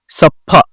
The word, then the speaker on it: सप्फा: सप्फा, सप्फा, सप्पा, सप्फा और सप्फा, सप्पा और सफा, तो ये सही उच्चारण ये आएगा, सा आधा फा और पूरा फा।